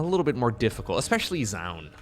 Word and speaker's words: Zoun: the username Into the Zoun. Some people say John. Look, the O U is a very common vowel sound in Dutch. And it's pronounced as Ow. So, for me it's always Zoun, okay?